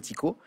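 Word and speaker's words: Tycho: du 16e prénommé Tico ça sécrit Ty ch prononcé Tico doit-on les observations astronomique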